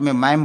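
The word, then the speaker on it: ma'am: डू फॉर यू मैडम तो मैडम को हम शॉर्टकट में मैम बोलते हैं तो what can आई डू फॉर यू मैम यहां जो है डी साइलेंट हो जाता है तो व्हाट कैन आई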